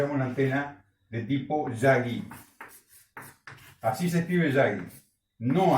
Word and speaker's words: Yagi: lo que se llama una antena de tipo Yagi. Así se escribe Yagi, no así, por las dudas, no, así, se lee Yagi.